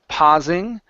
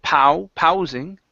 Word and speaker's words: pausing: next is the word pausing uh right here instead of pow ping it's PA only an a sound pausing pausing okay excellent